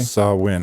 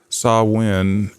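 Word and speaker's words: Samhain: So, um, how did you pronounce the the Celtic holiday? Sawin. I put it on the cover page. Uh, s a h w i n. Sawin was one of the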